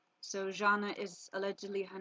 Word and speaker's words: Jana: Her name is Jana. This word is pronounced J, as in pleasure. So Jana is allegedly her name.